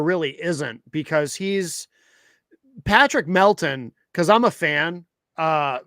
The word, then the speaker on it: Melton: His name is actually Patrick Melton.